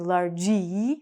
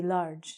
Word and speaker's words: large: We don't say in English largy, we say large. So, again, because the E is silent, this only has 1 syllable.